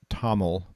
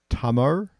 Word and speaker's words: Tamil: um i mean i've always heard it tamil but tamar so dummer has this very distinct sound which the linguists call as a retro flex l at the end and and the way it's pronounced the way it's formed is by taking your tongue and you put it to touch it to the roof of your mouth i don't know if